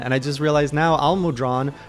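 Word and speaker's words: Almudron: i just realized now al-mudran rhymes with long he's i have a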